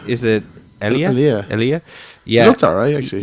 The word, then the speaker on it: Elia: pronounce his name? Is it Elia? Elia.